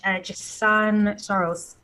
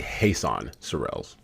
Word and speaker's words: Jesan Sorrells: So, thank you so much, Jan. Soros, have I pronounced your name? Nar Jan. It's actually Hassan Surels.